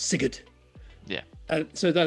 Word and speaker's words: Sigurd: In Danish, he would be pronounced Sigurd, and now it's Sigurd.